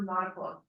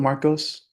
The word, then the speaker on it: Marcos: Marcus or Marco? It's spelled Marcos. Okay, it's C-O-S, Yes, ma'am.